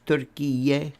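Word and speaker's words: Türkiye: No, pronounced Erdogan, and by the way, it's Turkiye, right?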